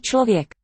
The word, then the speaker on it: člověk: Člověk, interesting cluster, chla at the beginning of the word. Dobrý člověk. Don't have anything quite like that in English.